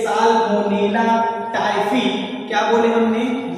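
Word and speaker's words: Salmonella typhi: तो टाइफाइड रोग जो है ये साल्मोनेला टाइफी, क्या बोले हमने, ये उच्चारण पे ध्यान दीजिएगा आप लोग, क्या होगा, साल्मोनेला टाइफी नामक एक जीवाणु होता है, हानिकारक जीवाणु होता है।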